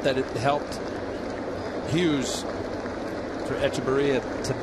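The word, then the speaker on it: Hechavarria: told me, no, it's Echevarria. So don't pronounce the H. And don't pronounce the V. I'm on the V now. It's B. You get the H. It's Echevarria.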